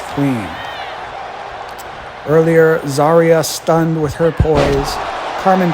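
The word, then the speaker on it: Zaria: Carmen and Zeria. Zarya. I get that pronunciation right eventually.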